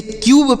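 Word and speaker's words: cube: इसे क्यूब पढ़ा जाता है। इसे कुब नहीं पढ़ेंगे ना तो कुब पढ़ेंगे ना तो कब पढ़ेंगे कुछ नहीं।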